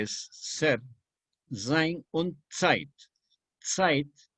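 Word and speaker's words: Zeit: ser sign on site site que se pronuncia con ts se escribe con zeta shape y significa tiempo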